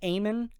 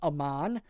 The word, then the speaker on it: Amon: Now, King pronounces Aean a couple different ways over these two albums, but the majority of the time he says Aean as opposed to how he says it on the album here, which is Aman.